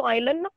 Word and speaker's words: island: Di pegunungan yang tinggi, in the Arctic, kutub utara, kutub selatan, Antarctic, and some small islands in the ocean. Serta, apa itu island? Island tuh tulisannya bacanya island.